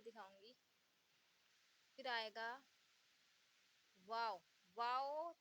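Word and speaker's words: و: यहाँ गोल कर देंगे तो ये हो जाएगा वाव, यानी वाह।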